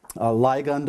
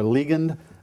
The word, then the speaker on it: ligand: in this, and that's the word ligand or ligand, L-I-G-A-N-D. In the dictionary, it has a short I, or a secondary pronunciation is a long I.